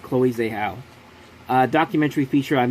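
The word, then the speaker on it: Chloé Zhao: check this okay i did say it right chloe zahl uh documentary feature i've not seen any of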